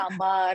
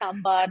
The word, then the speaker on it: sambar: i' con be like it's sambar it's sambar not sambar not sambar that was as far